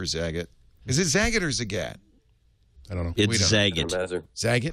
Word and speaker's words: Zagat: I was right zot Nina was right with her own name zat rhymes with cat like the cat Zagat but we're asking where